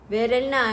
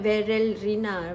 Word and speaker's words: Verelna: Rina sekarang hanya ada Verelna Verelna not Verelina Verelna okey kau jangan salah sebut